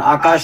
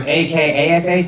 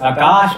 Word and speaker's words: Akaash: And apparently, when it was A-K-A-S-H, they would pronounce it Akash or something like that. So he said when he pronounced it A-K-double-A-S-H, that was the closest they got.